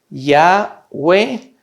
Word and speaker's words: Yahweh: se pronunciaba en hebreo Yahweh se pronunciaba en hebreo como una y una a una u y una e yahwe es importante la pronunciación yagüe Este era el nombre